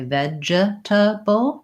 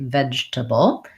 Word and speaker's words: vegetable: about the word vegetable the most common error I hear there is that people want to say vegetable because it looks like that you want to leave off that second E and just say vegetable I do have a